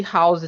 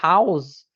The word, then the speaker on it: house: Porque agora, mesmo que seja uma palavra que começa com H, na palavra house, você pronuncia o H. House, house, house. Então, além de começar com consoante, tem som de consoante.